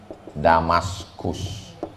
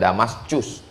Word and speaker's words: Damaskus: orang barat menyebut Dimas maka ditulislah namanya damaskus membacanya damaskus bukan Damascus ibukota Suriah lalu Kemudian